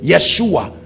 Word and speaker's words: Yeshua: means God our Salvation that's where they get Yeshua because they pronounce why for J Yeshua that's why you see